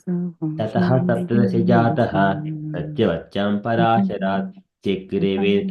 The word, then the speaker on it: ततः: it says I notice people are saying tataha. It's tata, isn't it? No, Tataha. Oh, because it's got the dot underneath.